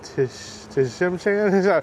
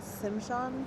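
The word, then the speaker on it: Tsimshian: The pole represents all 3 tribes of Southeast Alaska, Tinglet, Hadia, and Tishimchan. I'm totally going to pronounce that wrong, so 100% sorry about that. The T silent, Simshan.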